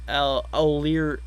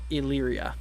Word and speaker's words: Elyria: See, it's pronounced Elyria. Okay, Elyria.